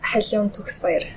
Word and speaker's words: Khaliun Tugsbayar: That's a pretty decent way to pronounce it. So how would you say it? I would say it as Khaliun Tugsbayar.